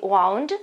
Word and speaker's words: wound: Occhio alla pronuncia, allo spelling di wound, ok? Che è W, quindi W, O, U, N, D, ok? Quindi W, O, U, N, D. Lo pronunciamo wound.